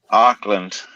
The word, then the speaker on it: Auckland: population is so small it's auckland no oakland oakland auckland so that's my that's my american accent auckland it's like new